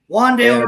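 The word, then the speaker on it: Wan'Dale: Well, the receiver for the Giants that I'm most interested in the OTAs is rookie Wendell. How do you pronounce it? Wendell Robinson. Wandale Robinson.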